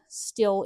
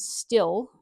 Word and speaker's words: Stihl: I know I pronounce Stihl incorrectly, and I'm really trying to pronounce it Stihl. I've been pronouncing it Still for the last, well, as long as I've been speaking the English language.